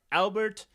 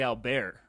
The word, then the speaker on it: Albert: It's a famous nolla written by Albert. It's actually Al Bear. Yeah, that one is right.